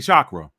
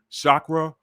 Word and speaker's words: chakra: What is a chakra in Sanskrit? Shakra translates some people say chakra, some people pronounce it with an sh, some people pronounce it with a ch, whatever you like.